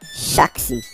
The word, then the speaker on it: Shaxi: the search bar shakti spelt s h e x i shaksi you know you kind of um uh pronounce it with a little you know foreign accent like i'm trying to